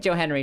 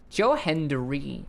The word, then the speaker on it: Joe Hendry: And Joe Henry, I have such a hard time pronouncing the hard D in Joe Henry. I'm always think Joe Henry. Joe Henry. Joe Henry because that's just the fast easy way to say it.